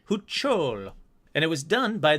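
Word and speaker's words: Huichol: All right, back to pronunciations. Huchol, Spanish. Huchol.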